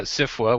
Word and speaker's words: SFWA: policies I've learned that I should be pronouncing it as a word instead of as letters which is good because